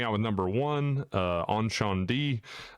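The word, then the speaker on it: Incendies: U starting out with number one, uh, on Shan D, uh, aka Cindy's is the way it looks like it's spelled.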